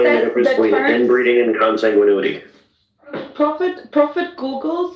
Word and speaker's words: consanguinity: Consanguinity. Oh, I need to know how to pronounce this.